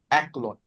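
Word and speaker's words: أكل: But you're pronouncing this calf a little bit off. So it'll be ek. Oh, Aklun.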